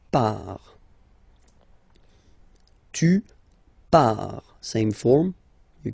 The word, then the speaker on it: pars: So the first form is je pars, so final S not pronounced, je pars.